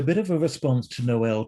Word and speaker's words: Noel: dramatic noel till and a lot of people don't know how to pronounce his name and he would it would drive him crazy if people called him knoll and he'd say noel and then i've heard people call him tile uh and you know